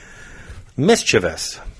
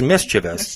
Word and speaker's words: mischievous: Mischievous. Yes. That's how you pronounce it. It's mischievous. Mischievous. People call mischievous. Mischievous. No, it's mischievous, folks.